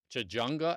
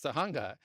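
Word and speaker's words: Tujunga: it's a it's so at first it used to say Jajjunga Avenue because it would pronounce the J's wrong and today it actually says Tahunga.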